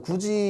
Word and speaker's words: 굳이: 비음화, 유음하는 조음 방법이 바뀌었고 굳이라고 하면 이게 어떻게 발음되냐면 굳이 이렇게 돼요. 이거 국외음화라고 하거든요. 다음 시간에 할 겁니다. 디귿이 지읒으로 바뀌어요.